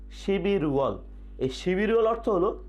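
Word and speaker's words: 십일월: আমরা স্ক্রিনে দেখতে পাচ্ছি শিব ইল ওয়াল, কিন্তু এর উচ্চারণ হবে শিবির ওয়াল, শিবির ওয়াল, শিবির ওয়াল।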